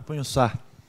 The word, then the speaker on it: Pagnussat: Punhoçá. Essa é a pronúncia certa.